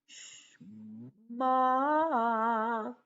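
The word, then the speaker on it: שמע: Shma. And this letter is silent.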